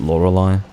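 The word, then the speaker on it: Lorelei: a number of legends i think the british pronounce it lorelai to me it's laura lay like come on in fact i would sooner use the german pronunciation whatever that may be probably lorelai something closer to that great yeah i saw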